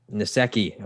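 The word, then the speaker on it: Nsekhe: They lost wide receiver John Brown, tackle Ty Netsky. I don't know how to pronounce his name. Nasecki.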